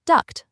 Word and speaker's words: duct: But duct c that keeps a hard t sound and is pronounced duct like in conduct, product, aqueduct, and abduct.